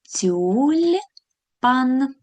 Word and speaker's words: тюльпан: Тюльпан наглопадає на другий склад.